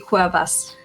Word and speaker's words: Cuevas: I just can't pronounce it. What is it? Kathy. Hello and welcome. Hi, Kathy Quavas. Quavas.